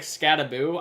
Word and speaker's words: Skattebo: His name doesn't quite work for it, but it actually does cuz we're actually saying his name wrong. Like it's like Scataboo. I don't even care. I'm saying it's Scataboo.